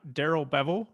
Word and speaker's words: Darrell Bevell: All right, so the Detroit Lions win their first game under new coach Darrell Bevell. I believe that's how you pronounce his name.